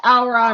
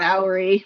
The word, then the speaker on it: Aura: It's Aura, not Auri.